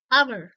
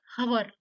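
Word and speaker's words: hour: यह कैसे साउंड करेगा आवर आवर नॉट हवर आवर आवर यानी एच क्या हो रहा है यहां पे?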